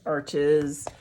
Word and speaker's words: Arches: This is a hot press, and then the cold press is the typical paper that most artists know about, Arches or Arche as it's pronounced.